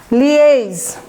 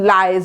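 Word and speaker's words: liaise: লিয়েজ, এটা উচ্চারণটা দেখেন, লিয়েজ, LIASE, লিয়েজ, একটু মানে টান দিয়ে বলবেন, লিয়েজ, নট লাইজ বা এরকম, LIASE, লিয়েজ, ঠিক আছে।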